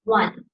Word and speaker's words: one: Now, one of is just a little interesting because if you look at how it's spelled, it ends with a vowel. It ends with an E. But when you pronounce it, we don't say this, we don't say the E. It's one. We end it with an N.